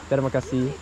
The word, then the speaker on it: terima kasih: Terima kasih. So, no, I exaggerated. Yeah, just the pronunciation. The kasih. It's a kasih. Kasih. Terima kasih. More like an E.